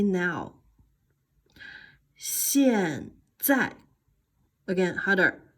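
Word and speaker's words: 现在: 现在 again harder. 现在 again. 现在 again. 现在。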